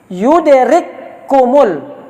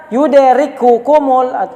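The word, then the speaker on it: يدرككم: Jadi yudrikumul, jangan dibaca yudrikukumul, tidak boleh. Langsung dibaca kepada berikut.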